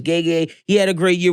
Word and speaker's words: Gege: Okay, so I thought it was Gege, but it's Gege.